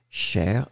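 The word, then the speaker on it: chère: And in fact, as you can see, these three things will be pronounced exactly the same way. La chair, chair, or then chair, feminine form.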